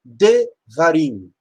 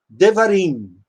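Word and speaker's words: דברים: Quando um sufixo é acrescentado a um substantivo, o primeiro passo é tentar reduzir a vogal na sílaba propretônica, até Shevá, que é no caso do davar, vira devarim.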